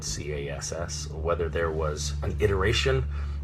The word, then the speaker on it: Cass: on the pronunciation um they they spelled it C A which is hard C followed by the vowel and consonant cluster that makes the sound ass so Cass as opposed to C